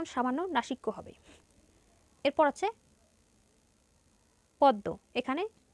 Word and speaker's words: পদ্ম: শেষে বর্ণটা হচ্ছে দ তাহলে দ এর দৃত্ত উচ্চারণ হবে পদ্ম ঠিক এরকম বিস্ময় এখানে পদের মাঝে ম ফল